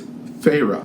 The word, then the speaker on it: Feyre: I think by the end of it, I was just calling her Fee because I couldn't figure it out. I just did not know how to pronounce her name. Apparently, it's Feyre was the main character, and Feyre is the main character here.